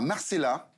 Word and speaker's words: Marcellaz: amener d'une part à Marcella si je le prononce bien il y a un Z à la fin mais bon voilà et Neuilly-Plaisance deux exclusivités de Sébastien deux experts on y va Marcellaz Haute-Savoie petit village familial